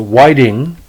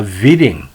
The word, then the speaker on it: Widing: the nickname whitey and instructed his announcers to pronounce his last name as a whiting uh as opposed to the real pronouncing uh viding he often played in